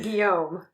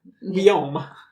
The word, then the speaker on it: Guillaume: I pronounced it in the French style. Which would have been Guillaume. Guillaume.